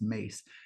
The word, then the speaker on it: Myss: them is uh Caroline mace um her name is spelled myss but it's pronounced mace and she once gave